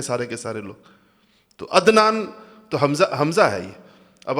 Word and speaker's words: عدنان: ہم تلفظ نہیں کرتے۔ مثلا میرا نام عدنان ہے، لیکن آپ میں سے کوئی بھی مجھے عدنان نہیں کہے گا، عدنان کہیں گے، حمزہ سے کہتے ہیں سارے کے سارے لوگ، تو عدنان تو حمزہ ہے یہ۔